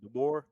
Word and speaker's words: DeBoer: Kalen DeBoer. DeBoer. We're gonna say Kalen DeBoer, but yeah, head coach from Washington had a lot of success.